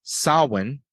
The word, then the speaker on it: Samhain: day of course Halloween was originally known as sawin which is spelled like Sam ha and a lot of